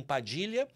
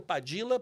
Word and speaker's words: Padilla: o sangue de Padilla, que eles pronunciam Padilha, Bravo e Baldonado. Eu falo Padilla porque, se eu disser Padilha, quem nunca viu termina escrevendo com LH.